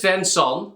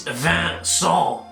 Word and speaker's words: Vincent: So this is Vincent. It is Vincent. Please check your pronunciation. I am French. I am in La France, not in America.